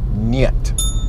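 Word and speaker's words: нет: and then no yep nyet okay so you I hear NY et something like that so yet yet yet just one short syllable yet alright it's pretty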